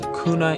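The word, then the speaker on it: Guna: home to the indigenous kuna Indians the G being pronounced as a k at around 55,000 in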